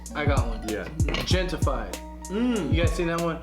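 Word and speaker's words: Gentefied: Gentified. Gentified. Okay, Yeah. Gentified. Hentified. Hentified. Hentified, like gente, like people. This is my people. Like gentrified.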